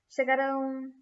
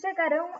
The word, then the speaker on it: chegarão: Negarão, chegarão, falarão.